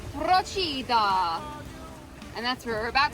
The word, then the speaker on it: Procida: We just learned how to say the name of this island. I googled it and it's Prochida.